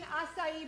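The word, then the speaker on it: açaí: making acai bowl. And how do you pronounce that again?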